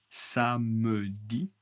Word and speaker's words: samedi: Le samedi, attention, samedi est la prononciation correcte. Beaucoup beaucoup de français, la majorité en général en France, on ignore le e. Samedi. Samedi. Samedi. Je ne pronce pas e. Samedi.